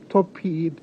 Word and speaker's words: topiramate: Was she prescribed tor- topiramate?